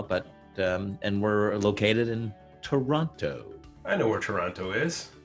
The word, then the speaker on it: Toronto: Like if you want to sound like you're from Toronto, you don't actually say Toronto, you say Toronto.